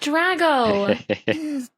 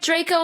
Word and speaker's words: Draco: choice it's not drago tomato potato no it's like draco malfoy basically think of it like that yeah it's also graham